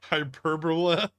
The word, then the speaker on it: hyperbola: Bull's time of day it's pronounced hyperbola like guacamole this trading looks sucky